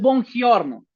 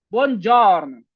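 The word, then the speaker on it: buongiorno: La g y la i no suena. No es bonorn. Bon jorn.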